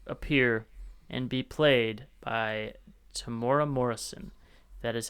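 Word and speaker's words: Temuera Morrison: he's going to appear and be played by Tamora Morrison.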